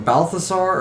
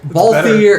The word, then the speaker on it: Balthier: I either call him Balthasar or Belisario. And I guarantee Balthier. It's Balthier. Yeah, Balthier, I think is how you say it.